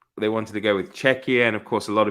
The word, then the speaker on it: Czechia: the Americans will confuse czechia with chechnya so um yeah don't pronounce it catchier then it is well it is czechia